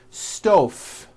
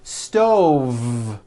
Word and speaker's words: stove: here's the first word stove I cooked dinner on a hot stove was that correct no I should have said stove stove I cook dinner on a hot stove with a voiced v next word five three